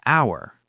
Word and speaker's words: hour: An hour. H is silent, starts with ow sound, vowel.